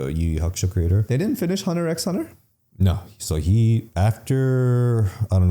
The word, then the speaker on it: Hunter x Hunter: And then I guess it's Hunter x Hunter. People get mad when you call it Hunter x Hunter. Even though it has an X in it, it's still pronounced Hunter.